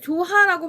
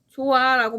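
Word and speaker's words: 좋아라: 그 다음 물론 여러분 이거를 조하라고 발음하진 않죠. 조아라고 발음을 하는데 그러니까 히읗이 발음이 안 되죠.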